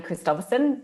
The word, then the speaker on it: Christophersen: u or find me on linkedin uh christopherson it's a tongue twister so i'll spell it for you it's x a double n